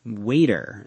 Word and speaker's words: water: Yes, in American English, when the letter T is in the middle of a word between two vowel sounds, it is often pronounced like a soft D sound.